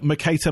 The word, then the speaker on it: Mercator: no I really enjoyed that in it's a Mercator map yeah did I pronounce that you did yeah no I have